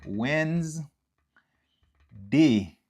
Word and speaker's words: Wednesday: langue créole là t dit wens euh ok wens day Wednes Wednesday ok je écr Wednesday Wednesday ok